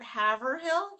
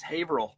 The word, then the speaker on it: Haverhill: It's not Haverhill? Haverhill? no, it's Haverhill.